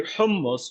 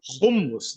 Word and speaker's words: hummus: So it's actually hummus which is the Arabic word of the chickpeas you know but they say humus they cannot pronounce it but they claim this